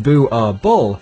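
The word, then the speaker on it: Boerboel: are illegal in Norway Buble pronounced bu ball is a Dutch Africans word for Farmer dog this breed was created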